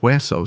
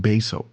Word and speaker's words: hueso: not bebo, or like in the word hueso, so it wouldn't be pronounced beso.